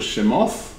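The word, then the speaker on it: שמות: in the beginning the second one is called shemoth which means the names and he called badmithba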